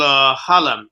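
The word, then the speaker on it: xalam: taka and they have an instrument called halam it's spelled x a l a m you listen to that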